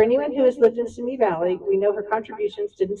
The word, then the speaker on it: Simi Valley: She's also written and partnered multiple books, which was presented earlier, and tells us really how to say not Simi Valley, but Simi Valley.